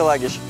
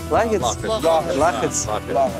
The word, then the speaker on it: Лагич: Вы знаете, где Лагич? Лагич. Деревня. Лахиц. То есть я произносил неправильно.